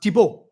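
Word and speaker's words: Thibault: having that name but in France it's used and is of course pronounced tibo which I thought was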